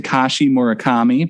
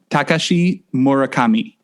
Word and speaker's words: Takashi Murakami: a Japanese artist um I've always said Tashi morakami but you you are telling me it's let's see if I can get it right this time Takashi morakami Kashi murakami okay thank